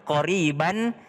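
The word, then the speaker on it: قريبا: Iya, tulisannya memang qoriban, tapi bacanya qoriba. Ya, kenapa? Karena dia fathatain kalau berada di akhir ayat atau akhir kalimat, kita bacanya 1.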